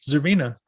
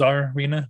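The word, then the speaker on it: Czarina: Is Zarina or is it Zarina. I Zarina. noticed that a lot of people tend to really overpronounce the czar part, so they say Okay.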